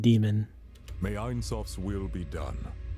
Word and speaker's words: daemon: Like, she's pronouncing it the way I was, Damon. He's pronouncing it demon.